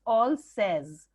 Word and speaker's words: Alsace: Actually the pronunciation is ऑलसेज।